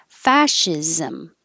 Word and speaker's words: fascism: the l absolutely absolutely fascism this last part ism can sound like zom or zim again you won't notice because it's not stress so it'll be really short fascism neither here nor there